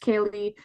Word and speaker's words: Ceilidh: So it it's pronounced Ceilidh, not spelled that way, but it's a lively Scottish gathering, Scottish style gathering filled with fiddle music, dancing, storytelling.